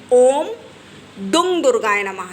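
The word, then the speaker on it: ॐ दुं दुर्गायै नमः: की वजह से कि काफी लोग गलत उच्चारण करते हैं ओम दुम दुर्गाय नमः फिर से हम एक बार आपको उन्हें बोल कर बता रहे हैं ओम दुम दुर्गाय नमः आए और कई लोग गलत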